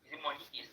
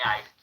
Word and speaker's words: Heist: you have watched Money East now, Money Heist, depending on how you can pronounce it, either East or Heist. Some people like to pronounce it East, some people pronounce it Heist.